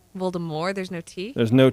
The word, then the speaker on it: Voldemort: it's Voldemort right it's Voldemort Voldemort there's no tea there's no tea it's a it has a French uh um pretty in the book there was a t it's silent cuz it's French based your mom is silent